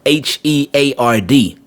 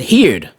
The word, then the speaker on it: heard: to that word and he said heared heared and i'm like well that's right because that's exactly how a spell is spelled heared h-e-a-r-d but the word is heard so it's so many